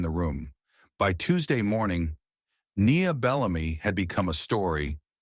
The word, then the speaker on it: Nia: Hargrove, who once mistook her for a transfer student twice in the same week, now made sure to pronounce her name with full syllables, Nia, not Naya.